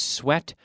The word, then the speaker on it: sweat: But it's pronounced like S-wet.